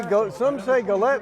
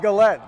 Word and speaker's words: Gillette: All right, some say Gillette and some say Gillette. Yeah, overhead announcer says. I think we'll go with Gillette because that's the apparently the public address official pronunciation.